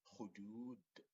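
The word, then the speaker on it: خدود: So as you can see here, the letter dal has a dhamma, the short vowel dhamma, in order to give you the oo sound, as if you are combining this dhamma here with this one to have this double O here.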